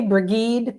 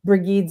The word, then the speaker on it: Brigid: Uh, how do you pronounce it, Nan? Well, I I I think mostly Brigade. It's bridg It's Bridg if for people who are trying to figure out what we're saying, Bridg.